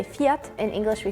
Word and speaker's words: Fiat: said though this is general say fiat in English we say fiat in Sweden we say fiat in Spanish we